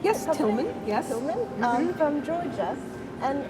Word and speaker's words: Tilgham: Is that the way you pronounce Yes, it? Tilgham, yes.